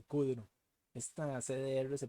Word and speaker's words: cdr: la cola en Rocket se llaman car y Kuduro esta cdr se pronuncia Pero entonces vean que si ya están